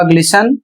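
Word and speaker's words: glisten: इसमें कह रहा है कुछ कॉमन स्टैंडर्ड वर्ड्स में टी साइलेंट रहता है।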